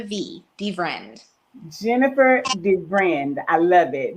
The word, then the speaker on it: DeVriend: butchered your name it's it's so like friend but with a V Deen Jennifer Deen I love